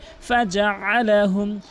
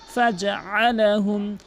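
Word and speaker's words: فجعلهم: ফাজআলাহুম, এখানে অধিকাংশ ফাজআলাহুম, ফাজআলাহুম, এই আইনের জায়গায় হামজান উচ্চারণ করে, ফাজআলাহুম আইনের উচ্চারণ করতে হবে, ফাজআলাহুম ফাজআলাহুম কাআসফিম, কাআস, এখানে অধিকাংশ লোক তিনটি ভুল করে।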